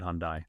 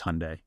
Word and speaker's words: Hyundai: learning that it's not Hyundai that it's Hyundai R Hyundai yeah yeah somebody in a YouTube comment was like didn't you see the Hyundai rhymes with Sunday ads and I was